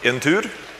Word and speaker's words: Entur: It's pronounced Entur, means a trip or a journey or something like that.